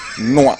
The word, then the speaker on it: NYOA: So if you put it all together like an acronym, how would you pronounce it? NYOA. There be. Noah. Oh my goodness. It's called Noah.